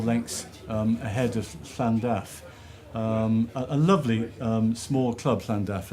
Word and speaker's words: Llandaff: Llandaff. Almost, not bad, but Llandaff. there, that's much better.